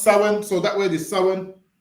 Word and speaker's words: Samhain: the year including Sam ha so it's about Sam ha but it's pronounced sin so that word is sin sa yeah the